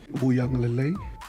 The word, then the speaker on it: Uiagalelei: Uiagalelei. Uianga. They got like an N, like Uiagalelei. The Wui is the part that a lot of people.